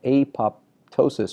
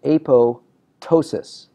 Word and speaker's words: apoptosis: it is correctly pronounced a PO ptosis the word pto s is the P is silent now you'll hear a